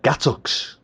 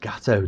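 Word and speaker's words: gâteau: And my mum said, we've got gattocks. And this girl leant over and very concerned voice said, you do know it's supposed to be pronounced gatto, don't you?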